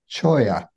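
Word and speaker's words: cholla: o l l a is a Spanish word and it's pronounced choya there we go my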